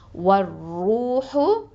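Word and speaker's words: وَالرُّوحُ: இப்போ அலிஃப் லாம நம்ம உச்சரிக்க மாட்டோம். ஓகேவா, ரா வந்து ஹுருஃபு ஷம்சியா எழுத்துங்கிறதுனால வர் ரூஹு.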